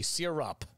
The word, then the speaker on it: syrup: syrup maple syrup serum it's syrup s-y-r-u-p sear up not an english teacher but i'm pretty sure that's how you say it's syrup the wonderful